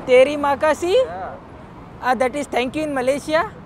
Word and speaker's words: Terima kasih: Terima kasih Terima kasih?